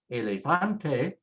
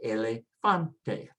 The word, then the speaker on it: elefante: The word elefante, you can probably figure is elephant. Again, it ends with a vowel, so next to the last is fan. So we say elefante, elefante.